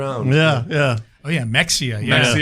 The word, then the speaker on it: Mexia: But it is always fun the first time you say Mexia. Yeah. Yeah. Oh, yeah. Mexia. Yeah. Mexia. Yeah. I always said I said Mahia.